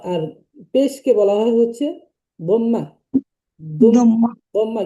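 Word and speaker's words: ضمة: দম্মা, মূলত শব্দটা ছিল দম্মুন, মানে পেশ, মানে এটা হচ্ছে দম্মুন ছিল, তো আমরা পড়বো হচ্ছে দম্মা। যখন পড়ার সময় আমরা এই উচ্চারণগুলো করবো, আমাদের সবথেকে দম্মা, সহজ হবে পড়া।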